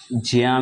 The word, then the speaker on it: ज्ञ: बहुत से लोग इसको ज्ञा पढ़ते हैं, ज्ञा से ज्ञानी, लेकिन ज्ञा नहीं होता है, इसका शुद्ध उच्चारण है ज्या। क्योंकि ये जो ज्ञा है, जिसको हम ज्ञा पढ़ रहे हैं, ज्या को ज्ञा पढ़ रहे हैं, तो इस ज्या में जा धन वा आता है, इसलिए इसका शुद्ध उच्चारण होता है ज्या।